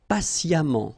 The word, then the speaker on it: patiemment: Patient, and then patiemment. So as I told you, even if you write it E-M-M-E-N-T, phonetically it goes like amant, patiemment.